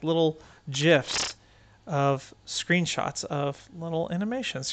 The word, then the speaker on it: gif: go there they actually do have like little gifs of screenshots of little animations here that you